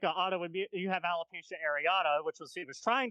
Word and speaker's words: alopecia: then he said, oh, you have alepecia. I was like, I have what? And it turns out he was trying to say alopecia. Oh. But he mispronounced it.